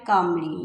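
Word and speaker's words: calmly: God listen patiently and replied कामली, यहाँ पे L silent है।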